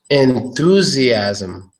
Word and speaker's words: enthusiasm: enthusiasm not this one you got to know how to make the th sound otherwise you propagate enthusiasm so there is a th sound of this and when I